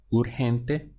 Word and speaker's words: urgente: We have urgente. So we have three syllables again. Urgente. So your push comes, your stress comes on the syllable before last.